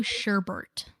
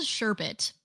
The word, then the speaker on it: sherbet: is your turn rainbow sherbert is it sherbet or sherbet it's spelled sherbet but I'm gonna say Sherbert because that sounds better Herbert I need a little